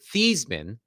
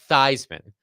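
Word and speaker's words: Theismann: change their name but they changed the pronunciation of their name was Joe thean becoming Joe thyman I believe the story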